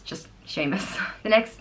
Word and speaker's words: Seamus: Patty's Day at all next name is Seamus and it means supplanter and it's pronounced Sheamus Sheamus and it's spelt s EA em us